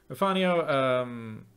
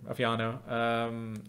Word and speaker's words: Afiano: Afanio, sorry for mispronouncing your name again, Afiano.